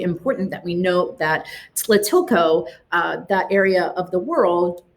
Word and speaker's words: Tlatilco: And here's that pronunciation, Tlatilco, but you run that T and the La together, so Tlatilco.